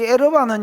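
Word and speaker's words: ערוה: 이 에르와는 여러분 에르와하고 바하고 중간 발음인데, 됐다.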